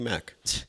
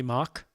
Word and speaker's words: Mack: Mock. Sorry. Yeah, you could have mispronounced Mac now. Come on. There's Mac and row. There's Big Mac. There's uh you know, Mac truck.